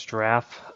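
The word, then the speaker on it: Jirav: uh forecasting solution is draff um sounds like the animals spelled with a j j i r a v um is a platform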